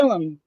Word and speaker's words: Gillum: It's Gillum. Gillum spelled like William, but with a G instead of a W.